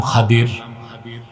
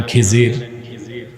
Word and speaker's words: খাদির: আমার এক নেককার বান্দা তার নাম খাদির। যারে আপনারা বলেন খিজির উচ্চারণটা কি খদির বিফিল আমাদের দেশের লোক বলে কি খিজির এটা ভুল উচ্চারণ শুদ্ধ উচ্চারণ কির মুসা